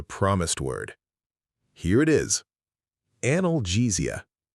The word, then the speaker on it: analgesia: Analgesia. Analgesia.